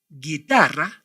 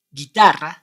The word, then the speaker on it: guitarra: words like this seguera guitarra in bragi did you notice any difference with our previous words exactly in these three words you must not pronounce the vowel uh that why and